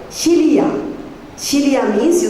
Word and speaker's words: philia: The second word is called philia. Philia means, you spell it P-H-I-L-I-A. Philia. It's not Felicia. It's philia.